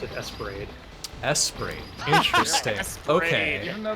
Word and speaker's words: ESP Ra.De.: So it says the title, and I think they pronounce it Esperade.